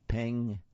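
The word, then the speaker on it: Peng: and it's by ping Shepard by the way that's spelled p-e-n-g ping Shepherd now let's take a look at a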